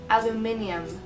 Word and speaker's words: aluminium: Number 8, aluminium. If you guessed it, I'm saying the word aluminum, but in the UK pronunciation.